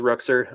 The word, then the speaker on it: Ruchser: and then at it's my last name is pronounced Ruchser. I took some creative liberties with the spelling of Ruchser. I mean, it's an OR, so an or, but I still say Ruchser.